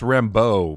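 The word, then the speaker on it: Rambeau: rambo i don't know it's pronounced rambo people it's not you know it's the french i guess it's creole technically maybe in new orleans dialect but uh but yeah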